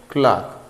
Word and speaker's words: clerk: It's not a clerk, it's a clerk. So clerk, it's a wrong. Clerk, it's a right pronunciation.